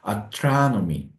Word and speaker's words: astronomy: 있어요 그서 가 여기 있으니까로 발음되지 않고 어로 발음 돼서 astronomy astronomy 천문학이 ason ason 우주비행사 asy 천문학이 asy